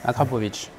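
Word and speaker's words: Akrapovič: We are We are lucky today, because we visit a special place Akrapovic race department in Slovenia How do you prononce Akrapovic.... Akrapovic !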